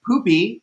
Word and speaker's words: Pupi: She was on like Spain's Got Talent, and they pronounced her name as Pupi, so it's Pupi Poisson.